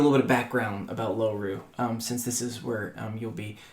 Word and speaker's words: Loru: So you are in the land of Loru. It's spelled like four letters. Really simple. L O R U um Lom Ru Loru and Loru